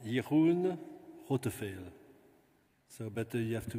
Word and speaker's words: Jeroen Rotteveel: It's a Netherlands Dutch language, so you should pronounce Jeroen Rotteveel.